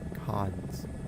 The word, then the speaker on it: Cairns: But can you explain why there's an R if it's not pronounced that way cons.